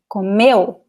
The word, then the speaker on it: come: So the first one is because it's a regular word, no accent, no 2 vowels together. So the rule is that the stress is in the second to last syllable, right? In this case, it's the first one because it is just, there are only 2 syllables.